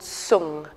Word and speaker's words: song: body and that quality is called sung which is spelled or sometimes s-o-n-g like song but sung means to